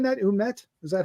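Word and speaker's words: Ouimet: Umet? Is that how you say her name? We met.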